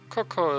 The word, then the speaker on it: Kokko: in Link's Awakening it's Kokko. Kokko. So that doesn't really tell us anything. Sure. I mean, Coco is kind of how you pronounce it, right?